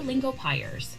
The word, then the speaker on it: Lingopie: Okay, so interactive Hello, Lingopiers. Okay, so it is Lingopie. It actually is. I had been leaving that open. They they do want you to pronounce it that way.